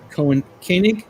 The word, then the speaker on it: Koenig: Probably would have been nice to have her on the show, and George Takei and Walter Koenig, I think that's how you say it. Koenig.